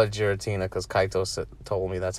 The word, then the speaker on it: Giratina: I call it Giratina because Kaitos told me that's how they say it in Japan.